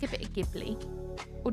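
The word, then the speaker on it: Ghibli: I like I like a bit of gibli or jibli. Jibli. Gibli. Multiple ways to pronounce it. I'm think it's jibli, right?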